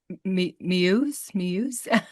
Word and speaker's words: Meeuws: my guest today, Nicole Meeuws. Yes. Am I Yes, pronouncing that correctly? like the muses in Like the ancient. Muse.